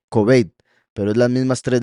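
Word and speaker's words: כבד: La palabra pesado, kabod, es la misma palabra para estima. Aquí en este caso se pronuncia kobed, pero es las mismas tres letras de estima.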